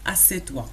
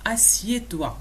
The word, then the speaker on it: assieds-toi: وفقط للإشارة فما تنقولوش assieds-toi. داكور، تنقولوا assieds-toi. هذا هو النطق الصحيح لكلمة اجلس، حيت بزاف الناس كنسمعوهم تيقولوا assieds-toi، ما صحيحاش في النطق ديالها، تنقولوا assieds-toi.